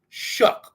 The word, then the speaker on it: Shough: With the pick 40, very controversial pick, the Saints select Louisville or Louisville quarterback Tyler Shough, Shough, but it's pronounced Shuck, like, oh, shucks.